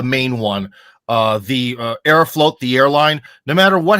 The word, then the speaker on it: Aeroflot: they keep it up I thought it's aeroflot uh dude it's it it's it depends on your pronunciation but I think that Arrow float sounds nicer okay but it is written f-l-o-t in Russian yeah okay uh so